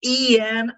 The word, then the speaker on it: Jan: Yeah, Jan, but technically it's Ian in order to be best way how to pronounce it in English language.